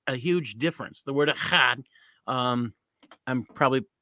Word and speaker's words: echad: The word echad, I'm probably, it's as best as I can pronounce it, echad, E-C-H-A-D, and there's some guttural in there.